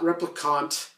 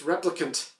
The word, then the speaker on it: replicant: have mentioned you know you're pronouncing that word wrong it's not repre conch it's replicant and I don't know